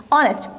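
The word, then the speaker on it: honest: एस टी ठीक है इस शब्द को आप देखिएगा ऑनेस्ट स्पेलिंग क्या है हा से स्टार्ट हुई है पर प्रनंसीएशन हम क्या कर रहे हैं ऑनेस्ट के बीच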